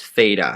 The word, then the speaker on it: theta: the page over here this Greek symbol is pronounced theta so like theta we often use that in